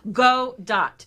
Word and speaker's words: Gadot: Godot is how it is pronounced. Gal Gadot.